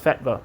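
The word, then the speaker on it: fetva: In Turkish, it's pronounced fetba on demand.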